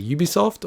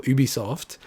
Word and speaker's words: Ubisoft: doing this podcast and it's actually mixed it's one of those ones where pretty much it's correct to say ubisoft or ubisoft generally if you're a